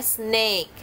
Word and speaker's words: snake: Itu dibacanya sn. Sn sama egg, jadinya snake. Jangan lupa ya, A sama E bunyinya egg.